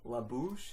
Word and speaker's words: La Bouche: I think it was La Bouche. Is that how you pronounce it?